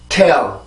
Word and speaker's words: tail: 우리가 멀리 뛸 때 이렇게 웅크리는 것처럼 T라는 발음이 강세로 가기 위해서는 혀를 눌러주면서 이렇게 준비 동작을 해주면 돼요. 그냥 안 눌리면 안 돼요. 자, 어떤 차이가 있는지 볼게요. 지금은 정확한 발음입니다. tail, tail, tail.